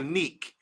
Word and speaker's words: Nike: My sister's name is spelled Nike. We call her Neek. So you got Nike, and Neek.